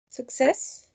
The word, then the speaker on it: success: If we take the suffix away, we get the word? Success. Success. Perfect, Gabriela. It's the same syllable is the one stressed? Yes.